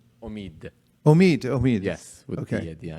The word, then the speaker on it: Omid: Omi? Omid. Omid. Yes, with Okay. the at the end. It Okay, means Omid, ambition Omid. in Persian. What does it mean? Ambition. Ambition. Yeah. Spiritual ambition. Omid.